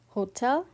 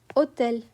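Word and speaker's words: hôtel: It is always completely silent. For example, in hotel, you don't breathe out an H sound, okay? You drop it entirely. You don't say hotel, you say hotel, hotel, okay?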